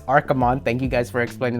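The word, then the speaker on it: Archimonde: pronunciations, like, you know, it's not Archimond, it's Archimond.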